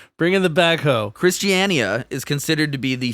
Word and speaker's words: Christiania: Christiania. Yeah, it's five syllables. Yeah, for a short little word.